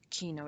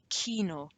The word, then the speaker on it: Kino: That's how you pronounce Kino. It's not Kino, it's not Kino, ein Kino.